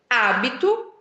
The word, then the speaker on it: hábito: Segundo exemplo, hábito e habito, né? A grafia é a mesma, OK? A grafia é a mesma. O que muda novamente é a pronúncia devido ao quê? A sílaba tônica.